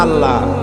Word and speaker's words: আল্লাহ: উচ্চারণটা আমাদের অনেকের হয় না কেউ বলে না আল্লাহ আল্লাহ পাকের উচ্চারণটা হচ্ছে আল্লাহ পাকের নামের উচ্চারণ হচ্ছে আল্লাহ